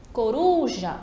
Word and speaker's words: coruja: Coruja, a mesma coisa, a tônica vai ser ali a ru. A penúltima sílaba.